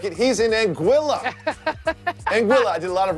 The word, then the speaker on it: Anguilla: Anguilla. I did a lot of research on how to pronounce that.